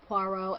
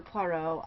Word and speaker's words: Poirot: Yeah, for Agatha Christie, I love Poirot, and I like Mrs.